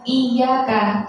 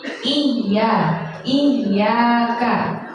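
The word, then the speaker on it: إياك: ke ayat selanjutnya itu kita bacanya bukan iya kah Tidak kita tajwidkan jadi cuman Iya Kak biasa sedangkan itu bertasydid jadi iya iya kan karena itu Bertasbih yaknya jadi iya karenastamin seperti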